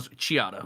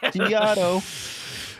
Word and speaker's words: Chiato: you're pronouncing it wrong. Chiato. Oh my God, Bruce, I'm gonna Like a macchiato. Chiato.